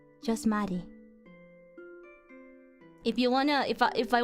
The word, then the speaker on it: Marie: Some people like calling me Mary or Marie. It's Marie because I'm a weeb.